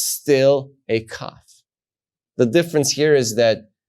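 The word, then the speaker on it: כ: something that we learned cough and you pronounce it as the sound Ka sometimes it appears with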